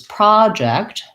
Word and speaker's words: project: goes before the pra in project it goes before the eject you'll also see in project in the unstressed syllable that there's the upside down e symbol the schwa or you'll often see also this symbol for an unsustained syllable versus project that letter o says the clear vowel ah so my lessons about